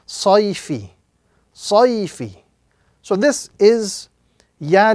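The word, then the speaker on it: صَيْفِ: So this word will be pronounced sayfi. Sayfi. So this is ya lean, the concept of ya lean must be pronounced gently and softly with no prolongation.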